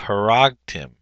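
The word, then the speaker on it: הֲרַגְתִּים: So you have a hatif patak here, and you have haragtim. Haragtim. The accent's down here on the syllable.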